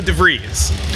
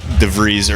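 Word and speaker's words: De Vries: Not that they could compete with Leo DeVries, right?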